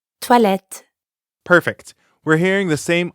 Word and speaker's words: toilettes: There's an S at the end of the word for bathrooms, even though you don't pronounce it. Toilette. Toilette.